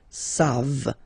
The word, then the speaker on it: savent: You don't pronounce it, so you get the sound savent, v-v-v-v, savent, okay?